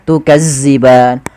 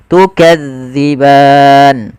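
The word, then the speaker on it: تكذبان: Maka gesari atas dza jangan dibaca dengan zaza makan jangan baca tukazziban tapi kita bacanya tukadziban.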